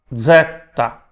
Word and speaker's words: zeta: Então, a gente fala zeta, tá? Se translitera com Z, mas ele tem som de Z, Z, Z, zeta.